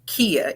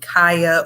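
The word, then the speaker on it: Kiya: chop it down because a lot of people cannot remember how to pronounce my name people call me kaya or dakaya and i'm i shouldn't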